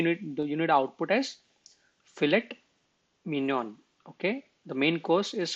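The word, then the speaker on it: filet mignon: that what you need you need output as fillet Minion Okay the main course is fet Minion Okay that's how they pronounce it okay I mean we can say Minon but I don't think that's that's the way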